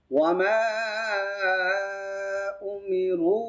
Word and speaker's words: وما أمروا: له الدين وما أمروا ওয়ামার মাটা 3 আলিফ লম্বা হবে। 3 আলিফ উপরে কেন, কি চিহ্ন আছে এটাকে? উপরে চিকন চিহ্ন আছে, এই যে জফলার মতো চিহ্নটা, এটা থাকলে 3 আলিফ লম্বা করতে হয়। উমিরু এইখানেও আছে এই চিহ্নটা, এখানেও লম্বা হবে। তাহলে মাটাও 3 আলিফ, রুটাও 3 আলিফ হবে, আর বাকিগুলো তাড়াতাড়ি। ওয়ামা উমিরু ইল্লা লা 1 আলিফ লম্বা কেন হবে?